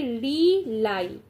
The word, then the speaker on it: rely: Have to, अब देखो इसको पढ़ोगे तो भाई ये री लाई, LIE को हम लोग कैसे उच्चारण करते हैं, लाई ही कहते हैं.